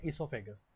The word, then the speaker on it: oesophagus: मैंने कल भी आपको बताया था यहां पे जो ओ है ना इसको साइलेंट पढ़ना है। ई से स्टार्ट करना है इससोफेगस।